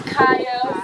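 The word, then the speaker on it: Cayo: It's Kayo, C-A-Y-O.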